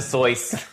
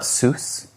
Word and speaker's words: Seuss: Soy. I'm just saying that that's Soy. Is it because it's like German? I I don't know. It's not Seuss.